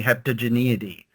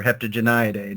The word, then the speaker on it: Heptageniidae: today, is the family Heptageniidae, or Heptageniidae, depending on how you want to pronounce it.